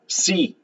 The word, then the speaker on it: psi: Esta letra griega que está aquí, primero que nada les informo, se llama psi, así se pronuncia, psi, parecido a sí, pero no es psi, así se llama esa letra griega.